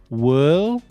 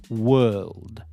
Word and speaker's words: world: So, add this soft D at the end. World. World. World.